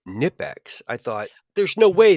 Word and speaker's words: Knipex: So, yeah, I think it Y is just Nipix, silent K. No, I think it's Knipex. I watched a video of a worker that worked for them, and they pronounced it with the hard K.